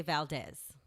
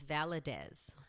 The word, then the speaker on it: Valadez: No, they say Valdez. Valdez. Oh, that I can see. Yeah, they say Valdez. That I can see. But I'm like, no, it's VALADEZ. VALADEZ. Vala. I was like, it's Vala. VALADEZ. Say it like this. I said VALADEZ.